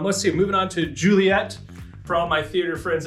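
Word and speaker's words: Juliett: one you'll see uh julia uh ju li et when you're pronouncing that one kilo um if you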